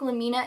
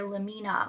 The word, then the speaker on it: Lamina: really is just that why would you call her Lamina when her name is so clearly in reference to laminate, as in laminate flooring, the synthetic composite wood flooring that you'll often see in like newly built homes because nobody puts in hardwoods anymore. In this way, it wouldn't be lamina, it would be lamina.